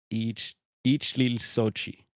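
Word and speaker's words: Ixtlilxochitl: The early chronicler of Mexican history, Fernando Alva, you would pronounce that each Sochi, each Lil Sochi, made mention of his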